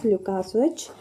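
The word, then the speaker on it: Łukasiewicz: लुकास विच लुकास विच spelling लिख देती हूं देख लीजिए एल यू के ए एस आई ई डब्लू आई सी जड इसको प्रोनाउंस करते हैं लुकास विच तो लुकास विच जो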